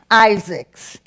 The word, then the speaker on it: Isaacs: the author's last name I'll pronounce it in English Isaacs in Spanish it would be isaks and he's from Colombia